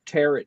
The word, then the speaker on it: tarot: I call it a tarot deck. I'm opening up the tarot deck. That's Not the tarot. That's to the get your Italian tarot word. deck in their truck. Tarot that rhymes with carrot.